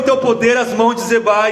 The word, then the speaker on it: Zeba: Zeba e Zalmuná, eu estou pronunciando como se fosse o nome hebraico, são os dois governantes ali dos midianitas que fugiram, é rei dos midianitas.